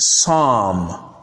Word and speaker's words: psalm: For example, the words calm, calm, bomb, bomb, palm, palm, and psalm, psalm. Note that the L is silent, as you can see from the transcription.